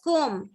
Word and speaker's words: comb: We don't say comb. It's comb. B is silent.